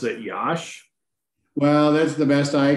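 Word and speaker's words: Iași: can they pronounce it yosh what's that they pronounce it yash well that's the best i can do i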